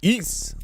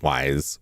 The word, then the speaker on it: Ys: Well, today we are returning to East. That's pronounced east like geese. Uh not wise or YS or is or anything like that.